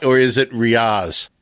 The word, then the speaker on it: Riaz: Now, did I get Riaz right, or is it Riaz? It's Riaz, but I don't mind exotic pronunciations, however you want to call it.